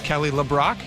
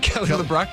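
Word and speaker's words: Kelly LeBrock: It's not Kelly. It's Kelly Le Brock. Is it Kelly Brock? Kelly Le Brock was from I call her Kelly Brock Brock.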